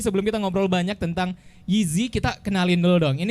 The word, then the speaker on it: JZY: huruf j j&w jz y benarkan nah ini dibacanya gizi tapi kok bisa namanya 3G doang karena kalau